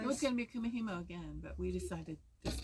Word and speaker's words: Kumihimo: And you did Kumihumu. I never can do that word. Kumihimo. Kumihimo.